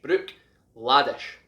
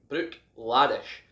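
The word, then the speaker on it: Bruichladdich: again like glenn fish the ddich on the end is pronounced sh so this is brook the br uich brook laddish brook laddish now the reason behind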